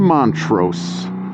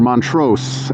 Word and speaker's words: Montrose: 20 miles back to Montrose or Montrose as they say here I'm a Chicago boy so we've got a street called Montrose Accent on the first syllable apparently out here it's on the second syllable imagine that all right